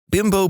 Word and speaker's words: Bimbo: Except it never really took off in America because we don't pronounce Bimbo like the Mexican manufacturer does. They pronounce it Bimbo, not Bimbo.